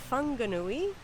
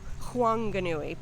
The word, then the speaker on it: Whanganui: locals you call it huanganui putting the h actually before the w so very interesting and